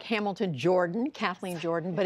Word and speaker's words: Jordan: I have to ask you first, it looks like Hamilton Jordan, Kathleen Jordan, but it's Jordan. Where did that come from? You know, my dad always said it's the Southern pronunciation of the surname.